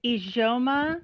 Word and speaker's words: Ijeoma: to pronounce it incorrectly it's idoma it's ijoma kind of with a soft j a luo is i